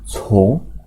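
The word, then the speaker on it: 从: Ren berubah jadi cong, bacanya berubah, artinya menjadi mengikuti atau follow.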